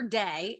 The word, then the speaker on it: Dey: So my name is Day, and it's spelled DEY. So Day, DEY.